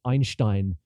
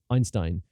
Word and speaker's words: Einstein: And again, 40% of the time, the AI says Einstein, which no English speaker says unless they're a prick, basically. Unless they're a prick who wants to show off how great their German pronunciation is. But the fact is, yes, Einstein may have been the guy's name, but the way it's said in North American English is Einstein.